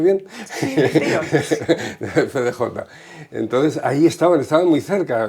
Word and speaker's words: FDJ: Que era Egon Krenz, que era el jefe de la FDJ, o FDJ, ¿lo he pronunciado bien? Sí, FDJ.